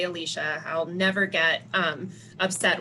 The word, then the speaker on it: Alyssa: um i i know my name is spelled alyssa you actually say alicia i'll never get um